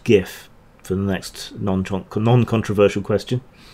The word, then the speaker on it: GIF: It's pronounced GIF for the next non-controversial question.